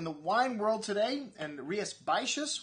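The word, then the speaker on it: Rías Baixas: world today and rhiaspacious one of the hardest areas to pronounce in spain it's up in galicia it's just north of portugal and a lot of x's and s's in there that aren't pronounced anyways they make some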